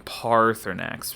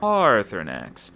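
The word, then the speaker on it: Paarthurnax: Parx and yeah look I I pronounce his name Parx because it's got those two A's in it and those two A's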